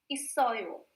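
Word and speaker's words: 있어요: जैसे कि first one is known as itta and the second one is known as pronounced as isoyo.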